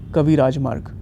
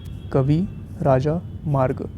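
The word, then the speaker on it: Kavirajamarga: this language is the Kavi Rajmarg, a work on poetics. Kavi Raja Marg. Always try to read such type of long words by breaking the syllables. Kavi Raja Marg. Kavi Raj Marg.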